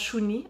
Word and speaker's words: Shuni: Puis le reste de ce livre, c'est une série de lettres en fait que j'adresse à Julie, qui se prononce Chouni en langue innu.